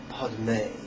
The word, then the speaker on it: Padme: And now five syllables. Om Mani Padme. Om Mani Padme. Om Mani Padme.